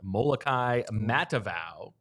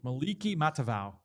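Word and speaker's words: Moliki Matavao: transferring to UCLA uh molai matava you got the you got the second name right Maliki oh Maliki Maliki matava oh yeah I got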